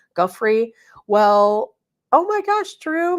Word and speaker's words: Giuffre: Giuffre.